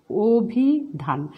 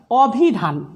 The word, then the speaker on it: অভিধান: আমি অভিধান লিখছি অ, অভিধান। আমি কখনো বলছি না অভিধান, আমি বলছি অভিধান।